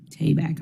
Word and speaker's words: Tabak: Tabak, I want to be correct.